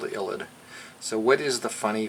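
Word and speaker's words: ylide: is called a phosphorus illid with the e illid y-l-i-d-e it's just a funny charged phosphorus thing has a so it's a phosphorous space reagent okay and the name of it's called the illid so what is the funny phosphorus illid thing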